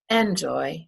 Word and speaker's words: enjoy: In the word enjoy, enjoy has 2 syllables. Is the first syllable the stressed syllable, or is the second syllable the stressed? Enjoy. That's right, it's the second one. We don't say enjoy, we say enjoy.